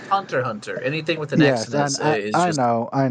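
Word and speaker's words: Hunter × Hunter: that i believe got remastered um and it's pronounced hunter hunter anything with an accident i know i know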